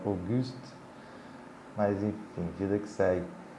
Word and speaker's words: Auguste: Enfim, até botei um PS na descrição do outro vídeo, que a pronúncia correta, né, seria Auguste, mas enfim, vida que segue.